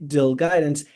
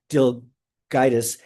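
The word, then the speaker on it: DelGuidice: Carl Fisher, and Mike Dilguidance, I'm pronouncing his last name wrong, Dilguidus.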